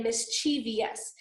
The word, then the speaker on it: mischievous: So, because if we pronounce them right, we'll spell them right, okay? Mischievous, okay? A lot of people say mischievous, and then you put an extra I in there, okay?